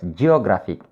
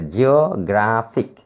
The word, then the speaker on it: geographic: Look at the words geographic. There are three syllables here, geographic. And this word ends in IC.